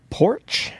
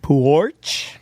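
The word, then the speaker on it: Poarch: Uh the name of the artist, Bella Porch, I think that's how you say it. Porch. It's got an A in there, so it's longer.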